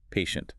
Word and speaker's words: patient: one for professional settings, patient. P A shunt. It's a strong elongated A sound at the beginning, followed by a very soft, controlled sh sound. It actually sounds like the act of waiting calmly.